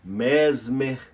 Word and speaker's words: Mesmer: de três eh pessoas o alemão mesmer Anton mesmer ou mesmer né numa pronúncia mais francesa porque ele a sua glória Foi em Paris né Ele fala numa